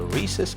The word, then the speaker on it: rhesus: Albert one was a rhesus macaque monkey yes you say it like Reese macaque he was put on